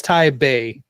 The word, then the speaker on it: Taipei: Why do we write it with a P then?